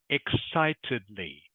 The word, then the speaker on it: excitedly: It is excitedly. Excitedly. Can you say that for me, please? Excitedly. Good. Excitedly. You make the I sound.